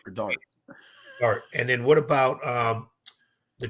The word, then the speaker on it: Dart: Dort or Dart? Dart.